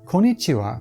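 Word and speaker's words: こんにちは: Well if it's before 10am it's OHAYO GOZAIMASU and anytime afterwards it's KON NI CHI WA, but around 7pm switch over to KONBANWA and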